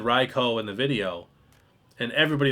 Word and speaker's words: Raikou: And yes, it is pronounced Raicho. I know a lot of people think it's Raikou. I think Leonhardt and Real